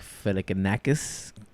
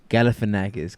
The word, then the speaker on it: Galifianakis: You should grab a random person and just kind of sack Filicanakis. Am I saying it right? Galifianakis, kind of.